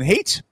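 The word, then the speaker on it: Haidt: generation uh this is by Jonathan hate um ha a d not H that's not how you pronounce his name but until he stops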